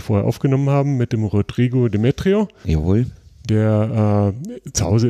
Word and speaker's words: Rodrigo: It's Rodrigo in Portuguese, but usually American call Rodrigo, but you can say in the way you want better.